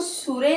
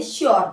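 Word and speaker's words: sure: करके पढ़ना है इसे एस आरी को सुरे नहीं पढ़ना है श्यर पढ़ना है श्यर सी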